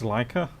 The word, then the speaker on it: Leica: that you tend to make up your own pronunciations for many things like a it's leica hmm do you like her hey city this